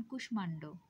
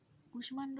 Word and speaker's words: কুষ্মাণ্ড: এবং কিছু সংস্কৃত শব্দে ম ফলার উচ্চারণ অবিকৃত থাকে, অর্থাৎ ম ফলা ম উচ্চারিত হয়, যেমন কুষ্মাণ্ড। কুষ্মাণ্ড শব্দটি একটি সংস্কৃত বা তৎসম শব্দ এবং এখানে ম ফলার উচ্চারণ হয়, যদিও মটা স্বয়ের সাথে যুক্ত।